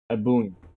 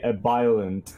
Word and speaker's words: Ebullient: editing, can you please post a video of someone pronouncing it? Ebullient. Please. So you can understand how to properly pronounce it, you uncultured swine. Ebullient. Name. I've had people call me a violent, and I cringe so hard.